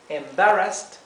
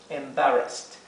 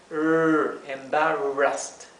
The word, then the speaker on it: embarrassed: Embarrassed. Y traten de pronunciar la R, embarrassed, embarrassed. Y aquí fíjense que tenemos una doble S, ¿sí? Por eso se pronuncia como la S suave, embarrassed.